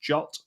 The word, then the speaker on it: JWT: doing that off uh jot um so JWT is Json web token it is pronounced jot um and that is